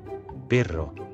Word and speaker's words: perro: Perro.